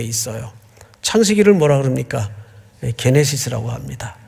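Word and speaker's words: Γένεσις: 게네시스라고 합니다. 또 어떤 분은 발음을 제네시스 제네시스 하는데 뭐 그래도 그렇게 틀린 발음은 아닌데 뭐 자동차 이름 같아가지고 원래 그냥 게네시스로 우리가 읽습니다. 그래서 어떤 학자는 창세기의 구조와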